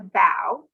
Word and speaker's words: bow: of a ship was called the bow it was spelled like a bow and arrow but rhymed with now and wow there's another chest